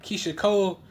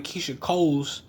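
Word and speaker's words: Keyshia Cole: But you'll notice that Keisha Cole, well, first off, the nigga said her name wrong. He kept calling her Keisha Coles.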